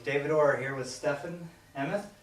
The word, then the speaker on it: Emmoth: Okay, David Orr here with Stefen Emmoth, right? Yep. Emmoth? How do you, Yep. how do you say it? Stefen Emmoth.